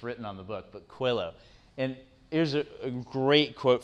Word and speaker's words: Coelho: pronounce the author's name um it's it's paulo coelho does anybody know how how do you pronounce it cuello it's paul is what's written on the book but quillow and here's a great quote from him he